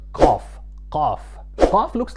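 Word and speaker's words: قاف: Qaf is pronounced almost like the Q in English.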